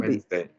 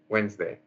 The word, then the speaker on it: Wednesday: uh Wednesday afternoon pronunciation the second word Wednesday two syllables two Wednesday Wednesday uhhuh every Wednesday afternoon